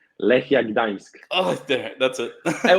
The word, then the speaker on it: Lechia Gdańsk: Lechia Gdańsk.